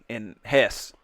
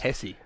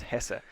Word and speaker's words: Hesse: Shout out to all our folks in Hesse. I learned it's pronounced Hesse. Hesse. It's not pronounced Hesse. It's Hesse. Hesse.